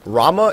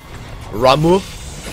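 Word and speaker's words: Ramuh: It's just that in Final Fantasy XIV, they actually do pronounce it Ramu, like that. Like, he puts a lot of emphasis, like he rolls the R, goes Ramu.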